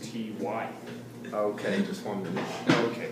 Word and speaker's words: T.Y.: Hilton does not show up, Greg, You know, if you took out that period, it'd say tie. but his name is pronounced T.Y.